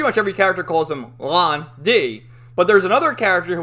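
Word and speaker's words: Lan Di: right and pretty much every character calls him lon d but there's another character who we meet later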